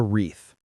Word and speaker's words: wreath: Yes, we always hang a wreath. Let's spell that because the W is silent.